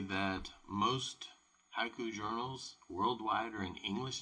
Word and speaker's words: haiku: Like haiku, and I'm going to bring up the word haiku, right? Right there. Haiku is ha-i-ku if it's written out.